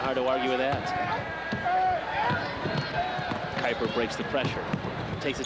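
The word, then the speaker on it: Kuiper: shoots it at 65% her last name is spelled kui p e r Kelly Kyper didn't we decide earlier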